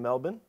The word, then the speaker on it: Melbourne: And it's like, now I know how to pronounce. I always correct people, like, actually, it's Melbourne.